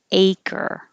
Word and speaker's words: acre: a j jail five this is crazy spelling i don't know why how you could guess pronunciation from looking at it because it really sounds like this acre and a baseball field